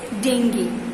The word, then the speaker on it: dengue: dengue so that you that's not called as jingu that is dengue dengue that's pronounced as